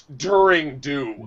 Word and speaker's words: Daring Do: Hold up, you pronounced it wrong. It's During Do.